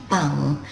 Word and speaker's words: 番: word for police box so it's pronounced bang the first country we